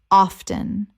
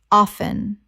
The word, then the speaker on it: often: across across Word 298 often Common mispronunciation often Correct pronunciation often Two syllables. The T is silent in natural speech, though often is increasingly accepted in informal contexts.